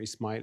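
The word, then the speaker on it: إسماعيل: But Musa, Ibrahim, or Ismail, as would pronounce it in Arabic.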